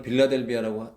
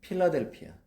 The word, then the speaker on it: 필라델피아: 오늘부터는 빌라델비아라고 하지 맙시다. 이미지가 너무 나빠져서 필라델피아, 필라델피아 교회, 그리고 필라델피아 성도, 그런 영성을 가지신 저와 여러분 되기를 바랍니다.